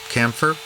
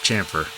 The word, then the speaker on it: chamfer: Chamfer? Camphor? I'm going to go with chamfer. I like chamfer, even though some people spell it camphor. It just sounds weird. So we'll go with chamfer.